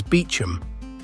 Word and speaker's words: Beauchamp: Norman, meaning fair field and pronounced in England as Beecham, which tells you how long it has been here.